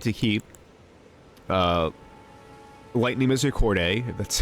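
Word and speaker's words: Misericorde: I like to keep Lightning Misericordiae, that's how you pronounce it.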